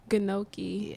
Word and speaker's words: gnocchi: You know, a lot of people, it's misconceptions when it comes to pronouncing these things. Yeah, Gnocchi, gnocchi. gnocchi, Yeah.